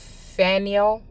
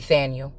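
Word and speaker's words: Phanuel: anna the daughter of faniel could be thania depending on who was pronouncing it and what original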